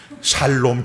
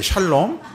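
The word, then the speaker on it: שלום: 하헤이, 어디 그게 살롬, 죽을 놈, 살롬이야. 우리 경상도 사람은 쌀 발음이 안 되잖아. 예. 샬롬이잖아요. 샬롬.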